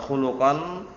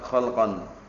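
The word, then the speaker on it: خلقا: bel lam Q kemarin kalau bacanya keliru wa ahsanahum e khulqon itu kelihatannya keliru bacanya Yang tempat kholqon maksudnya adalah apa maksudnya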